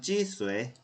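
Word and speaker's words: 几岁: 그래서 발음은 찌쇠. 그쵸? 제 발음이 당연히 안 좋겠지만 찌쇠 그렇게 하는 거네요.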